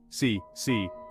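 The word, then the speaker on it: 死: The Chinese word for 4, si, sounds very similar to the word for death, si, leading to a widespread aversion to the number.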